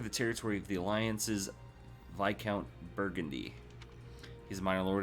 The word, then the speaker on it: Viscount: Yes, it's pronounced Viscount. It's not Viscount. That sounds weird. It's Viscount.